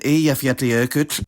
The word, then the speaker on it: Eyjafjallajökull: Double l basically always does, like in völlur and eyjafjallajökull, and this is generally pronounced as a voiceless lateral affricate ch, while double n only